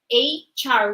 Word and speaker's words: HR: the next one HR remember the pronunciation is a Char we link the words so what is HR